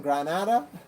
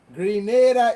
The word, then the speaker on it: Grenada: don't really know Grenada some people pronounce our name wrong Granada but Granada is in Spain all right Grenada is how our country